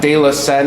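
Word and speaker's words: De la Senne: De La Seine, is that how you say it? Yes, Yeah. that's how you say it. You nailed it. De La Sens.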